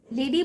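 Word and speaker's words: LADEE: ठीक है, इसका मीनिंग, इसका फुल फॉर्म होता है, बट इसका जो प्रोनाउंस होता है हम इसे लेडी पढ़ते हैं।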